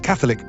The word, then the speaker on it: Catholic: Consider the word Catholic, for example. If you put the stress on the second syllable, as it is in Catholicism, I think you will find very few people happy with your pronunciation.